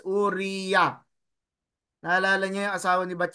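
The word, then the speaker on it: אוריה: sa gitna Okay so we read it as ur u o that is one vowel Ay sorry one syllable and then re another syllable ito Res tapos tapos ya ha Itong ito ay last syllable This is syllable so ang basa dito is uria naalala nio yung asawa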